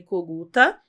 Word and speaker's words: Coguta: Coguta é o sobrenome do meu ex-marido, é ucraniano, né? Era Kogut, aí no Brasil virou Coguta, porque era mais fácil a pronúncia.